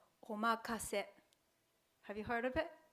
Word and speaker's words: omakase: So it is a good idea to remember the Japanese phrase omakase, or leave it up to you. Omakase. Omakase. Okay, good pronunciation.